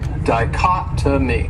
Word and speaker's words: dichotomy: great noun is dichotomy this word has four syllables and the stresses on that second syllable dichotomy and that third syllable it has that schah that uh sound dichotomy what it means is